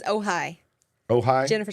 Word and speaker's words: Ojai: She says, "Oh hi." Oh hi. Jennifer says, "Oh hi," and she lives in California. Thank you. I had literally been following people who were pronouncing it Ojai.